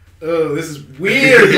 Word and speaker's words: Wii: be vi vi Vive a Viva it's VI you say probably VI sounds terrible it's like valve